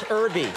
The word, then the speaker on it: Herbie: I do the H is silent. Herbie.